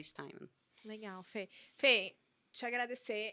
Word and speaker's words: Steinmann: Originalmente se fala Steinmann mesmo. A minha família optou por aportuguesar a pronúncia e a gente fala Steinmann. Quando os meus avós chegaram aqui, mas a pronúncia correta, original, é Steinmann.